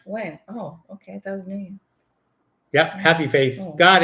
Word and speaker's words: Nguyen: Nguyen. How do you say his last name? Nguyen. When? No, Nguyen.